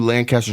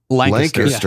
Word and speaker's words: Lancaster: It's Lancaster. Lancaster. Yes, thank you. So Lancaster is more what the pronunciation is like. Lancaster. Yes. Yeah. Don't go Lancaster. That's in California, not Pennsylvania. Correct. Yes. Or the UK.